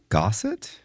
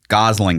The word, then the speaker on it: Gosling: Um Ryan, is it Ryan Gossit? Ryan Gosling. Gosling. Thank you. I knew I was saying name wrong.